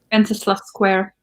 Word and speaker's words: Wenceslas: going to pronounce this wrong, but it's like Wenceslas Square. What's the main square? Wenceslas Square. That one. Yeah, you pronounce it better, obviously.